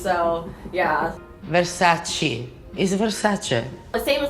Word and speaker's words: Versace: saying like she's like i don't know where americans got this like pronunciation from this is not correct she's like chi chi no not cheese so yeah versace is versace the same